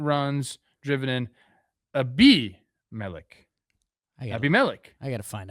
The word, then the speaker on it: Abimelec: Abimelec. Abimelec. I got to find out more about this guy. Yeah, the pronunciation's on there. It's tough for me. The acento's on the B.